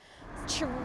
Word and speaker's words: chorizo: Something like chorizo is fairly well established now in English as an anglicised word. Now that's not how it sounds in Spanish. The Z letter in Spanish is pronounced either like a S or like a th, depending on which part of the Spanish-speaking world you're coming from.